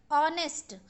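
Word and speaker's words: honest: आ रहा है okay ऑनेस्ट ऑनेस्ट में देखिए एच ओ एन ई एस टी ऑनेस्ट होता है तो ऑनेस्ट में भी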